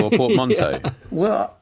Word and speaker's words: portmanteau: What, portmanteau or portmanteau? Yeah. Well, I always figured it was a French word.